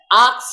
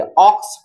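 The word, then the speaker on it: ox: तो यहाँ जो है आक्स नहीं आप पढ़ेंगे, ऑक्स पढ़ेंगे। आक्स, ये अ का मात्रा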